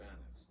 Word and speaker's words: Annas: 이거 발음은 아나스라고 합니다. 보통 이 N자가 이렇게 두 개 있으면 어떻게 하고 싶어요? 안나스. N자가 가지고 안나 이렇게 하고 싶죠. 안나스 그렇게 하고 싶은데 영어의 발음 법칙이 똑같은 자음이 두 개가 겹치면은요, 우리는 이제 안 이렇게 n을 쓰고 나 n을 쓰고 이렇게 쓰고 싶잖아. 근데 이렇게 두 개의 자음이 똑같이 이렇게 쓰이면은 발음을 하나만 해요. 하나를 생략. 안나스.